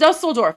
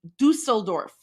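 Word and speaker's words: Düsseldorf: This is Dustelorf. This is Dustelorf from today. My heart They all the Okay, I stand corrected. It's pronounced Dusseldorf.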